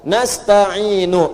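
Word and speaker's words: نستعين: Nasta'inu. Lihat sini. Ini harakatnya apa? Dhamma. Kalau kita wasal, maka ini panjangnya cuma 2 harakat. Ya, 2 harakat nih.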